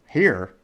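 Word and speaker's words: hir: Now the other ones are, so again, Zai, here, spelled H-I-R, but it's pronounced H-E-R-E.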